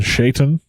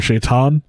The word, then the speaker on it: Shaitan: And then you have, I'm going to use a slightly different pronunciation, Shaitan, or Shaitan.